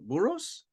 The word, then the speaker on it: Burros: But Burros? That's Yeah. how you say it.